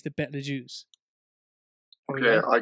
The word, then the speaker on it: Betelgeuse: This is another argument I'm having with my father now over the pronunciation of this. I think it's the Betelgeuse.